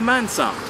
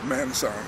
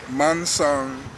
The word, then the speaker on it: Mansong: was a let me just say that it's pronounced manong how you pronounce it where's manang I let people get away with manang but you pronounce it slowly manang now what does that mean well